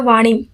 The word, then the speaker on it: वाणी: यहाँ पर देखिए लिखा है वाणी, बट ऐसे बहुत से लोग हैं जो बाणी बोलते हैं, लेकिन सही क्या है?